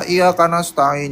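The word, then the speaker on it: إياك نستعين: Wa iya panjang yanya dua ka nas ta nas ta ada petik ain. Kenapa ada petik? Karena dia pakai ain ya, pakai ain. Jadi iyaka na'budu wa iyaka nasta'in.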